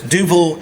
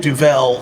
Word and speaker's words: Duvel: pronunciations that I think for this duil and duel seem to be equally correct uh but it's the Belgian word for devil and so I've sort